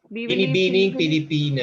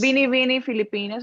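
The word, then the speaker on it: Binibining Pilipinas: It was actually the week of the how do you say Bibili Binibining Filipino? Pilipinas. Bini Bini Filipinas.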